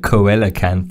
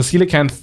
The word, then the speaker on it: coelacanth: something strange it's silicon the pronunciation like the phonetic pronunciation is is legitimately s-e-e-l dash u h dash k-a-n-t-h c-l so now the coelacanth the the reason why